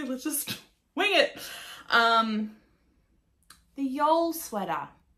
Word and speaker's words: Jeol: The Jeol sweater. It's spelt J-E-O-L, like Joel, but the other 2 are flipped around.